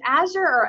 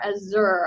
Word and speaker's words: Azure: way you print out is it as your as ur I'm not sure I think I've heard it um I haven't checked Webster for the official definition but I've heard Microsoft pronounce it both ways so I think equally correct alright so my name